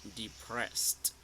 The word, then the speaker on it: depressed: this is this is depressed depressed here we have the S sound and the T sound depressed you got it now